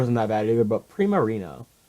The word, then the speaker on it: Primarina: I guess Incineroar isn't that bad either, but Primarina. So it's like Primavera and Marina or something like that.